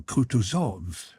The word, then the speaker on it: Kutuzov: said Anna pava General kutuzov said bonsky speaking French and stressing the last syllable of the general's name like a Frenchman has been pleased to